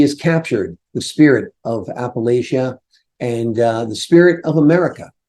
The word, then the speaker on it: Appalachia: captured the spirit of Appalachia and the spirit of America in her wonderful, wonderful book. By the way, it's not Appalachia, it's Appalachia. Appalachia.